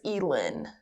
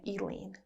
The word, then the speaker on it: Elin: name I can't remember and it's Elin Elin what did I say Elaine but it's okay okay